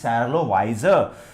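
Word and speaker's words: Charlotte Wiser: The correct pronunciation is Charlotte Weiser.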